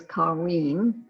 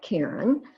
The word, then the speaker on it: Kareen: difficult for me, and he is Kareen, not Karen.